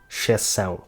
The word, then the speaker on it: exceção: Another complicated thing about this word is the C-cedilla (Ç), which makes the sound /s/. This letter exists in few languages and those who don't know it tend to pronounce it as if it were a normal C, saying /k/ instead of /s/. And of course, the word ends big with the sound “ão”.